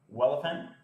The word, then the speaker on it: Welephant: You can go to GitHub and search for Welephant. That's spelled like elephant with a W.